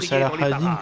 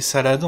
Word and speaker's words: Saladin: Donc en fait eux ils disent Salah ad-Din comme ça, mais c'est Saladin en fait. Hein. C'est juste la prononciation orientale on va dire pour le coup.